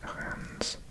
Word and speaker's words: Reims: I believe it's pronounced Reims, which defies logic because you never say the S at the end of a word in French.